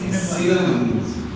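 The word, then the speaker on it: cinnamon: सीना मन। दालचीनी की इंग्लिश होती है और इंशाल्लाह आज के बाद कभी भूलेगी नहीं, ठीक है? जस्ट एक टेक्निक है, सिनेमा बिल्कुल ठीक है, ये प्रोनाउंसिएशन है।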